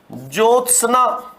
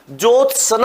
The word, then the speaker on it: ज्योत्सना: हम बोलते हैं इसको ज्योत सना क्या बोलते हैं इसको जोत सना बोल देते हैं और इसके